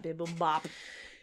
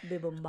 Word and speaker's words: bibimbap: I love that bibble bop. Is that how you say it? Bibimbap.